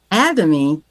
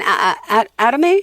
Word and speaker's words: Atomy: How do I pronounce it again? Atomy? Atomy.